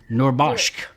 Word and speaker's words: Noorbakhsh: Zahra, I'm going to say it right again, Noorbaksh. I'm just happy to be on a show with Noorbakhsh. I'm just happy to be on a show with somebody else. I did it. Noorbaksh.